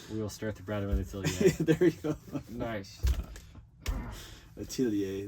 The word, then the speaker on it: atelier: And then we will start the Bradwynn Atelier. There you go. Nice. Atelier. That word. Atelier. Atelier. Would you call it the Jones Atelier?